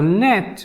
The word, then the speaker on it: Neith: So net, which is another way to pronounce her name, Neith, N and T, net.